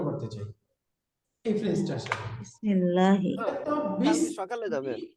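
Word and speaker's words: بِسْمِ اللّٰهِ: দ্বারা দ্বারা এখন বলেন দুইটা মিলে কি হবে বিসমিল্লাহি বিসমিল্লাহি বিসমিল্লাহি বিসমিল্লাহি বিসমিল্লাহি বিসমিল্লাহি আল্লাহর নামের সাথে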